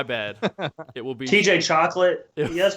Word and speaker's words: Choquette: Choquette. It's Choquette. So imagine it's like an S. It's not Chocolat?